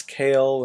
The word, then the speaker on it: Kayol: It's Kale, and it's spelled Kayol.